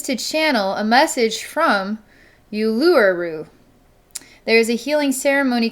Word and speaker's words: Uluru: I'm gonna try and pronounce this. I did look it up, by the way, on Google. So it's called Uluru. Uluru.